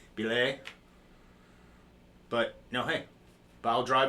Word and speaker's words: Bilé: with that and uh again this is the bile Drive is what people are going to call it's actually pronounced Bay but no hey bile Drive is good for